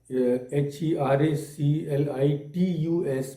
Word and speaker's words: Heraclitus: It is Heraclitus, but the T is again pronounced like D.